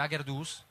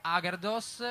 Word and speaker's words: Agherdoss: Sì, abbiamo storpiato semplicemente l'accento. In piemontese sarebbe Agerdus, però non ci dava molta dolce, adesso ho capito.